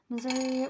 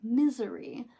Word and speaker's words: Missouri: So, Missouri or St. Louis might be important. I'm also I I'm a Midwesterner. Okay. So often times I accidentally pronounce Missouri as misery uh when I speak quickly.